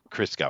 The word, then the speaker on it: Christgau: Did I pronounce that correctly? Close, it's Christgau. Christgau. Wow, it's either But Christ or Chris. Okay, cool.